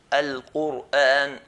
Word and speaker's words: Quran: If the previous letter has a dhamma, then we're going to pronounce ra in a heavy manner. Like the word Quran. Al-Quran, Al-Quran.